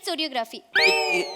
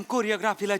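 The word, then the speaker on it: choreography: असते चोरियोग्राफी शिकवणार मॅडम कोरियोग्राफीला चोरियोग्राफी म्हणतात काय कोरियोग्राफीचं स्पेलिंग सी एच पासन सुरू होतं तर त्यांचं म्हणणं आहे सी एच आहे तर ते च आहे मी च म्हणणार मॅडम इंग्रजीचे नियम पाळत नाही पण मग केमिस्ट्री म्हणायचं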